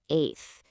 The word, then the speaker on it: eighth: Also notice the word eighth. Even though it's spelled with 2 T's, you only pronounce one.